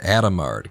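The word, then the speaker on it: Hadamard: Uh uh French don't pronounce that H in the start of the words. They pronounce it Adomard gate.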